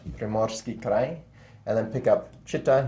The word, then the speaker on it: Primorsky Krai: or this area, into Primorsky Krai, that's the way it's pronounced, Primorsky Krai, and then pick up Chita here against 1 militia, as was these 2.